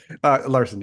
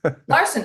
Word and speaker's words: Larison: I usually pronounce it Larson because my father was in broadcasting and he called it Larson, and Oh, okay.